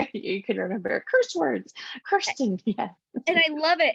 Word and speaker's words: Kirsten: Well, so Kirsten is a word that could be pronounced many different ways, and and it's very prone to people saying Kirsten or Kristen or whatever. So I usually tell everyone it's Kirsten, like curse words.